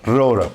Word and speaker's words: Roura: Roura.